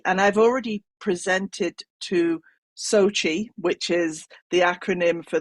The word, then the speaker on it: SOCI: told is pronounced so Sochi like the city in Russia where the Winter Olympics were if everybody remembers that